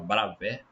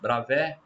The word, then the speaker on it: Bravais: A gente fala Bravais, a gente lê aí como se escreve, mas como no francês essa terminação aí, né? Igual cidade de Calais não é Calais, né?